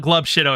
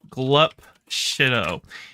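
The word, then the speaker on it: Glup Shitto: of glove uh uh it's not glub shid here I I'll spell it out glop shid it's uh from a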